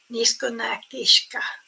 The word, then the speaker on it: Nishka: um um to say my name is Nishka like almost saying I love you but it's so it's